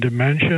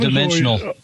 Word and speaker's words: Dimensional: And then um, but you keep mentioning Advantis and Dementia. Am I pronouncing them right? Yeah, Avantis and Dimensional.